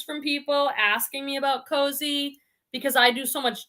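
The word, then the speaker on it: Kosei: to make the mistake this is pronounced cozy k-o-s-e-i i was like cos a i'd never heard of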